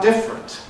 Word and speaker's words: different: What do we do about different? I think I always compress different. Though here obviously derives from differ. And so we in a sense know that it's differ plus - different. But I would have thought that it was Yeah, it's rare enough to hear different that we should always say different.